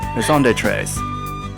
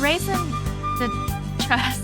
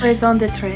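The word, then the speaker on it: raison d'être: Raison d'etre. The trust, okay. It isn't quite what you had in mind, but raison de trust. I'm so sorry. Raison d'etre.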